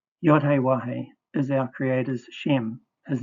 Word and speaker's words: Yahweh: I use W rather than V for the sixth Hebrew letter. Yahe is our creator's shem, his name.